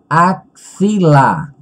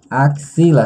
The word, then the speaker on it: axila: primeira palavra tóxico vírgula axila axila se você observar o som do x ele tem som de cs axilas tóxico máximo o